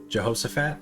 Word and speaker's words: Jehoshaphat: Jehoshaphat?